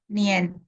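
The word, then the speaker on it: 年: Nien, cara bacanya sama dengan Indonesia hanya IAN baca adalah Ien, Nien, Nien ya.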